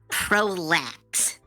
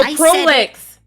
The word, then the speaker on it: Prolix: Prolax. No, Prolix. Prolix.